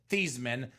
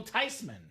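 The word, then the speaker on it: Theismann: The proper pronunciation is actually not Joe Thesman, not Joe Thyman. It's actually Joe Tyman.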